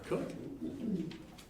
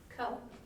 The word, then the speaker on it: Coke: with our public participation we have Jaclyn Coke or cook which one is it Coke all right I've heard it pronounced both ways I I answered all of them it doesn't really matter all right thank you